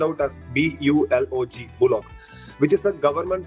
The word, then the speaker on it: Bulog: which is why Indonesia has an entity called Bulog. It is spelled out as B-U-L-O-G, Bulog, which is a government state-owned enterprise that actually collects the rice from farmers.